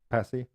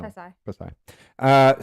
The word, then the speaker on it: Pasay: How do you say it? Yeah. Passy? No. Pasay.